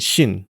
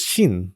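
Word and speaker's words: 神: In Japanese, they're pronounced sei, ki, and shin.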